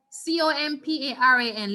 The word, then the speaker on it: comparan: Where on the word we will stress? Where will be the long sound and the emphasis? Ah. Muy bien. Entonces se pronuncia comparan.